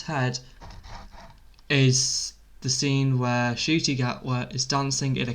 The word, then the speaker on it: Ncuti: His name is pronounced Shooty Gatwa, as in you're shooting something with an eye, Shooty.